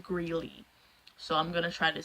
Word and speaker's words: Grelle: I know how to pronounce it, it's just I was pronouncing it Grell for a long time, so it's sort of hard to break that habit, but I was brought to attention that it's pronounced Greeley, so I'm gonna try